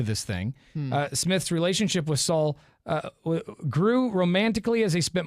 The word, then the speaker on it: Sol: S-O-L. Sol. Okay. Soul. Soul. Soul.